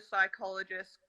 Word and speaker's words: psychologist: can't you hear the psychologist in the bathroom why because the p is silent that's so great that